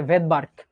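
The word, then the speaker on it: Svedberg: একটা সুনামির মধ্যে যেমন পি উজ্জ থাকে, নিউমোনিয়াতে যেমন পি উজ্জ থাকে বা সাইলেন্ট থাকে, এরকম ভেদবার্গে এসটা উজ্জ থাকবে।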